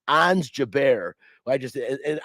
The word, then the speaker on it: Ons: three another great name ons jaber i just and ons is spelled like just like it sounds o-n-s um but it was